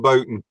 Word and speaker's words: Bolton: about seven miles from Bolton not polished at all yeah yeah Paul Paul says it's bolted yeah well we could we call it Bolton volume we actually pronounce the L actually I come from